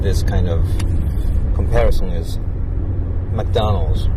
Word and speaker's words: McDonald's: it's six syllables but in English it is three M McDonald's and the point here is that most Japanese people are not aware how important it is to read McDonald as mcdonal because nobody told us so